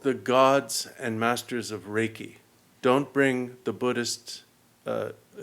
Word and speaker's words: Reiki: So for example um when you're practicing uh Reiki is it pronounced raiki?